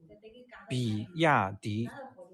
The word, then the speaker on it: 比亚迪: BYD is actually the initials of 比亚迪. This is how this brand in Chinese is pronounced.